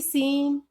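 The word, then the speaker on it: scene: एस के बाद सी silent रहता है, जैसे कि सीन, सेंट या फिर साइंस। इसमें भी एस के बाद सी आ रहा है तो इसमें हम सी को साइलेंट रखेंगे, सी इसमें हम नहीं बोलेंगे।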